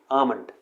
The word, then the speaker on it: almond: तो next word है आमंड, इसे हम अगेन एल को साइलेंट रखते हैं, तो इसे हम प्रोनाउंस करते हैं आमंड।